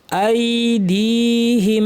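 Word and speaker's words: أَيْدِيهِمْ: ছোট্ট বাতাস বের হবে আইদিহিম এইযে এখানে দালের পরে ইয়া আছে টানতে হবে আইদিহিম বলবেন না আইদিহিম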